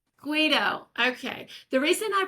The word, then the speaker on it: Guido: How do you pronounce it? Guido. Guido. Okay. The reason I pronounced it Gaido the first time I saw it is I